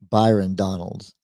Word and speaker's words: Byron Donalds: he's you did say it right there Congressman Byron Donald's right yes okay so I just answered the